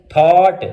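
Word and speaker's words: thought: अगर जी आ जाए तब भी हम इसको प्रोनाउंस नहीं करते। जैसे थॉट, देखें टी से पहले GH आ रहा है तो प्रोनाउंस नहीं हो रहा।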